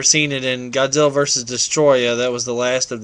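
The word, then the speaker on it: Destoroyah: a bigger Destroyer figure, or Destroya, because that is actually how it's pronounced and spelled.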